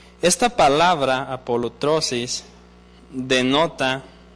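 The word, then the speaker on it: ἀπολύτρωσις: que habla ese versículo esa palabra se deriva de una palabra griega que se escribe o se pronuncia apolotrosis apolotrosis esta palabra apolotrosis denota o nos da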